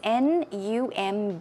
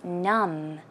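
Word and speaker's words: numb: so the spelling is n u m b but the B is silent you don't pronounce it so as you see it's num num num and it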